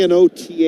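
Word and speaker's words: Knothe: The name is K N O T H E. That's how it's spelled.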